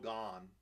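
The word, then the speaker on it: Gane: stuff it just surreal gan gan gan man say Gan it's not even a hard name to pronounce some people have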